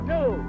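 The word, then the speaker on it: gnu: It's G-N-U, new. The G is silent.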